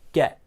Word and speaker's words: get: one interesting thing is this t here in get is pronounced more of a glottal uh uh sound get get i don't get